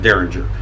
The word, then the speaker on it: Deringer: zorda ringers his actual name is but is pronounced derringer but it's spelled during ur de ringer and